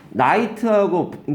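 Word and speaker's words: knight: 나잖아요 그래서 이런 것들 케이드 발음이 안 나고 케이드 발음이 그래서 나이트하고 기사란 뜻이잖아 나이트가 밤이란 말의 나이트하고 발음이 똑같잖아요 문맥으로 파악해야 되는 거죠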